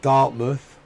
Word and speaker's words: Dartmouth: with like Falmouth um Dartmouth we' got a load of these Villages which we would we don't pronounce it mouth even though that's what it comes from it's you know it's